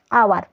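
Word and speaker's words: hour: যেমন দেখো আওয়ার, এখানে আওয়ারের উচ্চারণটা কী বলো তো, আওয়ারের এইচটা হলো কনসোনেন্ট,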